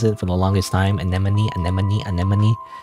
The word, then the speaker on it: anemone: Anemone. Anemone. Anemone. You would think it be enomin like enomes. No it's anemone.